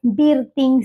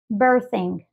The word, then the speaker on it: birthing: centro de partos y no se dice biring Center que además a nosotros en el español se nos complica mucho leer palabras como este estilo donde hay una r una t una H Cómo se dice eso pues muy sencillo en este caso es birthing birthing vean como la th Nosotros la pasamos pasamos a una Z porque realmente no hay un sonido tal cual en